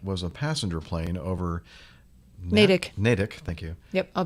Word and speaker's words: Natick: but you're you're saying nadine that's right no name natick but it's not no the t is not so harsh yeah that's it that's